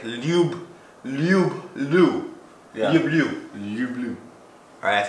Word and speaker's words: люблю: Люблю. Hey, enunciate. Люблю. Okay, but remember, it's not lube. Yeah, it's lube. It's lube with a Y, okay?